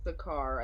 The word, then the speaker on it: Sachar: Sakar, I think it's how it's pronounced.